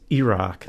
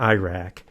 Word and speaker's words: Iraq: But the way you're supposed to pronounce the countries is Iraq, not Iraq. Iraq and Iran.